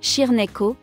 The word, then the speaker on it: Cirneco: Le Cyrenaico dell'Etna, prononcé Cirneco, remonte à 2500 ans sur l'île de Sicile, en particulier dans la région entourant l'Etna.